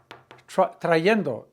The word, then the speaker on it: trayendo: Trayendo, T-R-A-Y-E-N-D-O. There's a Y there, trayendo.